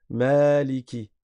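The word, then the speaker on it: مالك: Mais dans la lecture de Hafz que nous nous apprenons, on va dire Maliki. On prolonge parce qu'il y a un alif.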